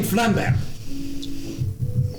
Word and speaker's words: Flambert: I am Flambert. Or. Who? Flambert. Flambert? Flambert, or for short. for short? You get the feeling that he pronounces his T's at the end silently.